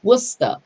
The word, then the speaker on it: Worcester: Okay, so just enlightening you guys, it's called Worcester.